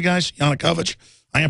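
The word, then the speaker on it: Yanukovych: that yanukovich am I pronouncing that right guys yanukovich I am pronouncing it right as the media widely claimed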